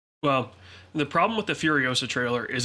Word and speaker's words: Furiosa: First one? Ferosa? It's Furiosa. Oh, Furiosa.